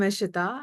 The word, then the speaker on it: Ishiyeta: I'm Ishita and my name looks like that because my parents were into numerology when I was born.